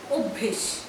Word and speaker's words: অভ্যেস: আরও একটা শব্দ বলছি অভ্যেস, ওয়ের মতন উচ্চারণ হয়।